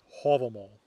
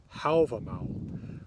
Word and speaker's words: Hávamál: name of this poem hobble mama is the reconstructed Old Norse pronunciation from about the time the poem was written down in the 1200s you're more likely to